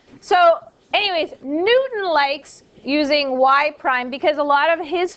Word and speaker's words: y prime: Y prime, that is exactly how you say it, y prime.